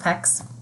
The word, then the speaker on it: PECS: So the other thing I wanted to just chime into is it's pronounced PECS, and I don't have like a sample.